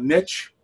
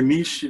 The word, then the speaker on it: NICHE: practice guidelines we joined niche or niche depending on how you pronounce it but we joined